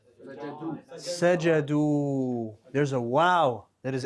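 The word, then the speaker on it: سجدوا: Now, we write with that wow an alif. It's not pronounced. It's just there. It's written, not pronounced. Sajadu, right?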